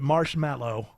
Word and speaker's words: marshmallow: So you think you're trying to convince me that Marshmallow? Why do you say it like after that? a show, Marshmallow. because people don't say they say mellow, but it's mallow.